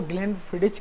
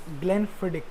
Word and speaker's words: Glenfiddich: सबसे पहली बात कि जो लोग इसको ग्लेनफिडिच कहते हैं वो मेनली ग्लेनफिडिच नहीं होती, इट इज़ ग्लेनफिडिक, exact pronunciation है वो ग्लेनफिडिक है।